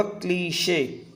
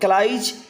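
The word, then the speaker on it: cliché: ठीक है, ये क्लीशे है, इसका जो प्रोनाउंसिएशन होगा दोस्तों वो होगा क्लीशे। Clear, क्लीशे। ये क्लाइज या क्लाइश नहीं होगा, ये होगा क्लीशे। 55 one can predict the behavior of this category of characters.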